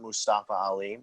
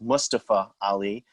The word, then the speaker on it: Mustafa Ali: he is really clarifying his name is not mustafa ali it's pronounced mustapha ali he wants the right pronunciation on that he's tired of being